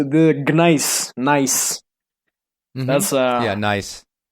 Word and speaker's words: gneiss: Nice.